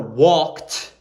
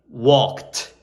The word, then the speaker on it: walked: on the word so for walked it ends in a t walked uh the sound ends in a t the pronunciation ask asked